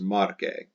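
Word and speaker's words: Marce: going to be market the us becomes an e the letter e pronounced marque and typically the vocative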